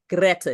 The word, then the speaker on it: Greta: it's important to me so it's Greta it's kind of like our Greta but we're rolling the r right Greta yeah okay